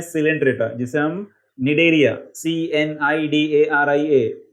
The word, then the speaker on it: Cnidaria: इसका फाइलम है सिलेंट्रेटा, जिसे हम निडेरिया, CNIDARIA, निडेरिया में सी क्या कर रहा है, सी साइलेंट है, तो CNIDARIA निडेरियंस, जो एक एग्जाम्पल है हाइड्रा जिसमें, उसके अंदर ये चीज होती है बडिंग।